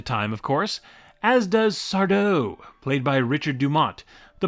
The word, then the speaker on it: Sardo: Are you Mr. Sardo? That's Sardo. No, mister. Accent on the toe.